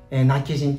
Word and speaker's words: 今帰仁: なっちしなっ記事今帰仁村ですね南紀人と読みますラッキ人種そうなんて